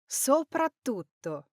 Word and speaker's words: soprattutto: Now, the correct pronunciation, however, is. Soprattutto. So you can hear those two T's there. Now, this has a strong, clear double T sound.